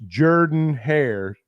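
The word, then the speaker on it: Jordan-Hare: this week Suge Jordan it's not Jordan just like it's nean stadium and not nen Stadium it's nean stadium and it's Jordan hair stadium and it's Davis Wade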